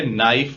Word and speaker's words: knife: नाइफ में के लगा तो है पर वो साइलेंट है, उसकी कोई आवाज नहीं है। इसे नाइफ बोला जाता है।